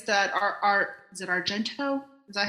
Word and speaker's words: Argento: the proper experience that our AR is it Argento is that how you say his name yeah yeah to create the experience that Argento must have wanted no I mean I I